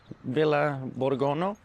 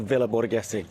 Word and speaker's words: Villa Borghese: It's called Villa Borgona? I'll write the name here. I don't know how you pronounce it. So I've just checked. It's actually Villa Borghese, the park.